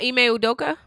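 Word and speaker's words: Ime Udoka: Uh, Eime Odoka. Eay Odoka.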